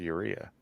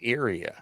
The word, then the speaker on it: Ara: to go to Ura it's ARA who wants to go to ARA now he pronounces it right and of course GED